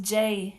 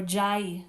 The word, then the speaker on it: Jai: And Jai is pronounced Jai in Hindi or Jai in Sanskrit, and you'll hear it both ways.